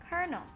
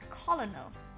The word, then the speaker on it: Colonel: word ideas we'll be pronouncing the word Colonel Colonel often mispronounced as Colin own the word colonel means a rank of officer